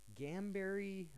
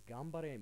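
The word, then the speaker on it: 頑張れ: actually get right I've heard it as uh gameberry uh Gan I've heard it as uh gamre uh Gan um just so many different pronunciations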